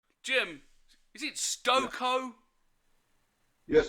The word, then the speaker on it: Stokoe: jim is it stoko yes it's stoker pronounced stoko yeah it is pronounced it's a viking name